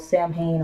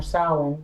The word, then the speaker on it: Samhain: And Halloween, also called Samhain or Samhain, depending on the culture and how you pronounce it.